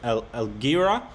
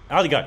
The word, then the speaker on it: Aligarh: But I think the next thing we saw you in was Elgira. Is that how you pronounce that? I'm terrible at pronouncing names. Aligarh, yes, thank you.